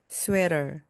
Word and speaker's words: sweater: 가운데 나오는 T는요, 모음 사이에서 리을처럼 발음되면서 부드럽게 나옵니다. sweater, sweater, sweater입니다.